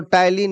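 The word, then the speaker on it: ptyalin: Spelling उसका पी टाइलिन होता है। पी उसका साइलेंट होता है पिटियालीन होता है लिखा हुआ, लेकिन उसको टाइलिन याद रखना है।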